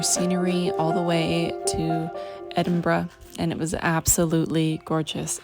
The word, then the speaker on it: Edinburgh: catch our train to Edinburg now Edinburgh got to say it right Edinburgh so we're sitting here